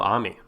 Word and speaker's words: Ami: So we talked about him, but we have not talked about Shujiro Ami. I believe Ami, A-M-I. I don't think it's pronounced Amy. I'm going to go Ami to be on the safe side.